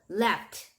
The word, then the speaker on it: laughed: 요것도 마찬가지로 laugh도 GH지만 얘는 발음이 F 소리가 나거든요. 그래서 얘 같은 경우도 laughed. 자, 요렇게 요거 끝소리가 F 소리가 나니까 요 ED 발음은 T 소리가 나는 걸로 그래서 laughed.